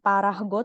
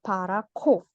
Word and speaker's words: 파랗고: Nah, di sini dibaca bukan parahgo tapi parako. 자, 다음 가을 산의 단풍들이 빨갛고 노랗다.